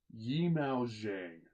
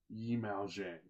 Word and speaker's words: Yimou Zhang: Yimou Zhang. Yimou Zhang. I want to make sure I pronounce his name right because he's an absolute genius.